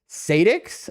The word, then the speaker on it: Sadix: That's actually how I say my name myself. Sadix.